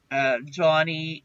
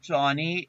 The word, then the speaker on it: Joni: Johnny Erickson Tata. She wrote a book called Johnny, and her name is spelled Joni, and she is quadriplegic.